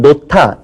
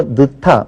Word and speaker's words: 놓다: 학생들은 놓다 이렇게 얘기를 안 하고 느타 뭐 이렇게 말들을 많이 하거든요. 그래서 느타 쪽으로 많이 발음하는 경우가 있는데 이건 이제 표준 발음을 바로 잡아줘야 되겠고요.